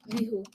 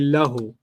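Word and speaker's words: لَهُ: Lihu. Hu. But they don't say li. They say lahu.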